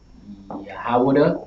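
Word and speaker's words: יהודה: All right, and then Judah in Hebrew is going to be pronounced Yahawadah.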